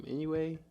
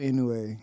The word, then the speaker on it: Inoue: How do you pronounce his name? Inoue.